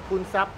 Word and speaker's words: Poonsap: Poonsap.